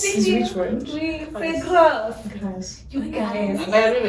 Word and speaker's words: Grasse: Oui, c'est Grasse. Grass. You guys. I don't even have it. Comment ça s'écrit?